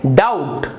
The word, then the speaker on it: doubt: ही नहीं रहा है, इसका मतलब है बी यहाँ पर साइलेंट है। आप इसका उच्चारण करेंगे डाउट, डाउट होने यानी किसी